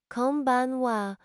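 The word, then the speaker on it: こんばんは: Pronounce it konbanwa with equal emphasis on each syllable.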